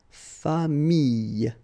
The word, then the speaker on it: famille: So with this I vowel, then you get the Y, okay, but then you will pronounce this I, so you get famille, okay, famille.